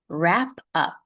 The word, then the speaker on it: wrap up: Wrap up. Notice the silent W.